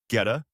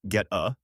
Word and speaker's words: goetta: Goetta, pronounced get-uh, is a sausage patty made from coarsely ground pork, steel-cut oats, onions, and seasonings.